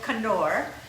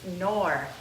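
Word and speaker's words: Knorr: used to call it kannur but then the the K is silent rice was not nor its nor nor Maggie all that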